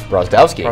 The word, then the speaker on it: Brozdowski: Brozdowski. Brozdowski, like Mike Wazowski.